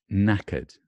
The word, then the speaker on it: knackered: Knackered. Knackered. I'm knackered. I mean, really tired. I'm knackered. I'm completely knackered. Knackered. Spelled like that. Knackered, but it's not, doesn't sound like that. It's knackered. Knackered.